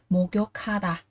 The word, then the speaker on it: 목욕하다: Lưu ý, cờ gặp hờ thì cờ sẽ được đọc là khờ, và nối lên đọc là gì? 목욕하다, 목욕하다, tắm.